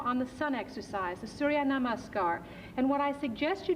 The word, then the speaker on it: Surya Namaskar: Can you pronounce that for me? All right? Surya Namaskar.